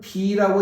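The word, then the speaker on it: 鼻: 코는 비라고 읽습니다.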